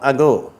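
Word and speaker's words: ago: அதுக்கு ஒரு உதாரணம் அகோ. சரியா? அந்த அ கோ, அந்த முதலாவது சொல்லப்படுகிற அந்த அ அப்படிங்கிற உச்சரிப்பு லேசாக உச்சரிக்கப்படும், அகோ.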